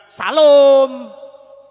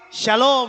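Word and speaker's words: שלום: Terus ini shalom. Sin adanya jadi sya. Sya ini lamet. Wow. Shalom. Jadi ngomongnya shalom. Bukan salom. Salom. Bukan saudara. Tapi shalom akan lebih elegan ya.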